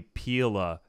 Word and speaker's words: pila: say pill or P but it's actually Pila because it's a Latin word and I was told